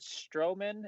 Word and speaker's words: Stroman: uh dave is it is it strowman am i pronouncing that right yeah that's right uh we have dave